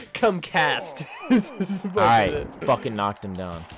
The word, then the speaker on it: CUmkAsP: Oh, yeah, CUmkAsP, but the P is silent. CUmkAsP.